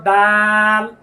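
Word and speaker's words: د: এই হরফটির নাম হলো দাল জিহ্বার আগা এই যে দেখেন জিহ্বার আগা এই দাঁতের আগা গোড়ার সঙ্গে এর আগে আমরা তা পড়েছি না একই জায়গা থেকে উচ্চারিত হবে দাল আপনি আয়না দেখুন আয়না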